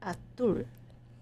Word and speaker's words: azul: She was from Europe, so they had a different way of pronouncing certain things, like azul, blue, azul. She said they pronounced it like atul.